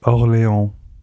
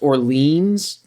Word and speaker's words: Orléans: Wait, you're telling me it's not pronounced Orleans? I mean, you could pronounce it Orleans. There's no right way to pronounce it. Depends on if you're from Louisiana or not, I guess.